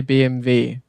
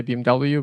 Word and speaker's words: BMW: in Germany you say BMV but it's not BM fo like it is BMV BMV would be BM FA in German. So, but yeah, when I'm speaking here, I obviously say BMW because that's how you say it in English. But the correct spelling of BMW is BMV and not BM V or F.